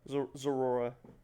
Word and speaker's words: Zeraora: Zeraora.